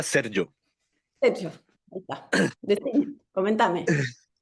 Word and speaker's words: Sergio: Seriño, estoy como Serio, serio. ¿Cómo es tu nombre? No sé pronunciarlo. Ya, se pronuncia Sergio.